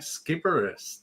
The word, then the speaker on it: Sciberras: I'm your host, Will Wheeler, and today I'm joined with my special guest, Skipperus. Did I pronounce it?